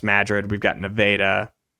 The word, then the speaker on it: Madrid: Iowa it's spelled just like Madrid but it's pronounced Madrid we've got nadaa it's uh there's a lot